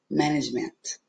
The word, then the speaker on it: management: Management, porque eu tenho schwa no último. Management.